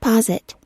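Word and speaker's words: posit: a basis of argument and you pronounce it pause it pause it okay so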